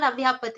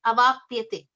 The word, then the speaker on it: avapyate: Bhir avyaptate deha vad bhir avyaptate It's not avyapate, it is avapyate.